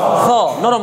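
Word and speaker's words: سين: সিন আর সদের মধ্যে হচ্ছে সিন পাতলা, আওয়াজটা পাতলা হবে, আর সদের উচ্চারণটা কি হবে?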